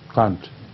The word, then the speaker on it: Kant: Is it pronounced Kant or Kant? Kant.